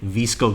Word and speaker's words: VSCO: myself to know better what is a visco girl and am I even pronouncing that correctly you are pronouncing it correctly congratulations so a visco girl